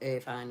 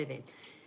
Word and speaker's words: Irvine: Still on the coast, still hugging the coast near Irvine, which many people pronounce as Irvine as that's how it's spelled, but it's actually Irvine.